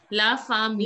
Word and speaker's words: la famille: La famille. La femme. Yes, la famille. Good. It has to be this, till I you have to pronounce.